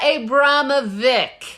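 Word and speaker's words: Abramović: Oh my God, I had to listen to it like 30 times to get it right, but it is Marina Abramovic. Hey. We pronounced it wrong every time.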